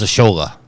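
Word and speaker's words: Asshole: said before anybody asked the way you pronounce my name is ashola and I said okay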